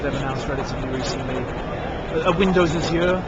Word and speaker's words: Azure: Azure. Azure.